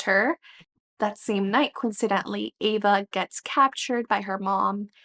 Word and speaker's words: Ava: So we have Ava and we have Kai. I listened to the audiobook and that's how her name is pronounced, so I'm going to move forward with that.